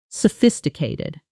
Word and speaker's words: sophisticated: 5 syllables. Stress landing clearly on that second one. Fis. Slowly again. Festicated. Fast. Natural speed. Sophisticated.